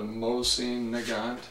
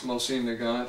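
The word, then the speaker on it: Mosin-Nagant: it was the first car version of the mine neant it's spelled m o s i n n a g n t uh the original mine nant had a barrel that was roughly this much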